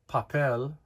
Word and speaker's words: papel: Vow you probably know the word for paper papel papel when you when you pronounce the word papel you don't say papel papel you say papel you're stressing the e